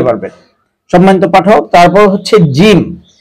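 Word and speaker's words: ج: সম্মানিত পাঠক, তারপর হচ্ছে জিম, জিহ্বার মধ্যখান তার বরাবর উপরের তালুর সঙ্গে লাগিয়ে উচ্চারণ করতে হয় জিম জিম।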